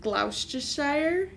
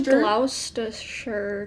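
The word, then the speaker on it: Gloucestershire: Copper's Hill near brockworth glou Shire yeah I think it's probably GL sure cuz they like usually get rid of that middle C GL toer yeah sorry for our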